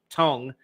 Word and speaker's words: Tongue: Instagram chat about the conditions and helping Josh Tong it's not tongue it's tongue but it's spelled tongue go figure um you may have